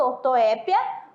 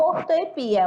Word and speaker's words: ortoépia: Muito, você pode falar tanto ortoépia como ortoepia, a única que aceita, tá bom?